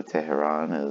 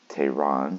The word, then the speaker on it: Teheran: 2 anyway so Julio Teheran is number one it's Tehran sorry pronounce that wrong so I had some